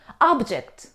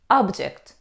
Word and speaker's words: object: as they are washed object object it's a noun means something that you can see or touch but it's not alive for example you can see a lot of objects around you but when we stress on the second syllable we say object object means to refuse